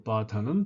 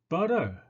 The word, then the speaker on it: butter: 자, 현대 영원어민 파닉스는 butter, butter라고 이렇게 발음을 합니다. butter로 이렇게 진화가 되었습니다.